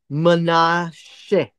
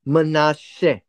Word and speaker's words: Manasseh: This is pronounced as Manasseh, right? Manasseh. But there is this little